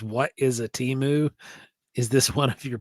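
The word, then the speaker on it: Temu: says what is a Teemu is this one of your primate deities that's that's hilarious I think it's actually pronounced timu that's how they actually pronounce it but you know we're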